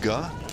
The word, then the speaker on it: Ge: It's spelled GE, but we have confirmed that it's pronounced Ga.